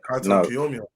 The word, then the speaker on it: Kaito Kiyomiya: Kaito Kiyomiya.